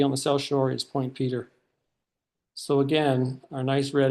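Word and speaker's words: Point Petre: Point Peter. It's spelled Point Petra, but it's pronounced Point Peter.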